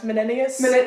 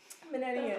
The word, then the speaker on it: Menenius: me is the guy whose name I cannot pronounce, Menenius. That's the first time you've pronounced his name right. That's the first time you've pronounced his name right. Menenius.